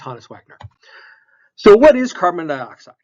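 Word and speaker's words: Honus Wagner: for which is the care oh and it's pronounced hanis Wagner so what is carbon dioxide carbon dioxide is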